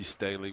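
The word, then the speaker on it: Sthele: Staley is pronounced Staley.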